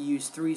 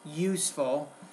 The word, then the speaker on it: useful: many uh pronunciation problems maybe the word useful it almost sounded like you use three so uses useful it's use useful but still it's good